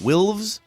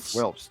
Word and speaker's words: Wilfs: doesn't it feel good to say that wilfs wills wills wilfs w-i-l-f i'm still pushing for wills a package